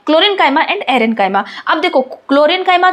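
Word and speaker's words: chlorenchyma: यहां पे हम क्लोरेंकाइमा बोल रहे हैं ना कि कोलेनकाइमा।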